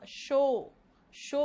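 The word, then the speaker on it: show: लेकिन देखो शेड और शैडो बोलना इसका मतलब है वीडियो शो नहीं हो रहा। शो बेटा शू नहीं, शू तो जूता हो गया, ठीक है?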